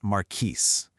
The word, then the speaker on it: Markiesje: It is pronounced maris.